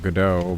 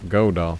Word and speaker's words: Godot: good oh godot dot however you want to pronounce it i kind of like godot but they like godot so yeah godot would need like a killer